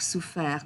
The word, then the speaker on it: souffert: Okay, so ouvert, offert, souffert, découvert. And please do not pronounce that T at the end.